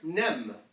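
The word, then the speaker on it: ⲛⲉⲙ: This word, nem. So pronounce it like it looks.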